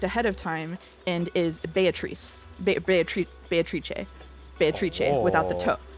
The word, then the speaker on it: Beatrice: how to pronounce uh beatatric because not only will I acknowledge that the Japanese uh actors are saying bayatariche I will say that uh the Japanese pronunciation is based on Italian pronunciation which I checked ahead